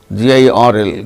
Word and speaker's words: girl: of certain, garden, girl, GIRL, girl. R is followed by L, a consonant sound. There r is not pronounced.